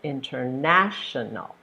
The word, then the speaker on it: International: think of the syllables International so there's five syllables that's a long word International and the stress goes on your third syllable International all right thank you